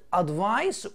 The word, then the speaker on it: advice: طبعا هنا عندي بالسي تتنطق advice وهنا بالاس تتنطق advise.